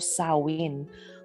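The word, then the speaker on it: Samhain: the Celtic Festival of sowin which is spelled one way and pronounced quite another so one of the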